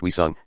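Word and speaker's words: 위성: Asterisk in Korean, the term, pronounced Wisung, can both mean a satellite and a moon, or anything that really floats around a planet.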